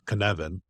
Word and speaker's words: Cynefin: So I've done some more research in Cynefin, which is spelled CNECYNEFIN, Cynefin. It's a Welsh word.